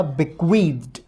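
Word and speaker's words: bequeathed: Second form इसमें ED लग जाएगा, बिक्वीद्ड, और ये होगा बिक्वीद्ड। याद रखना पीछे ड जो है उसको ट प्रोनाउंस करेंगे, ड प्रोनाउंस नहीं करेंगे।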